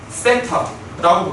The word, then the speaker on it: 세타: 우리는 각도를 대표적인 미지수 세타라고 부르기로 합니다. TH 발음입니다. 세타예요, 세타. 세타는 THET. 세타.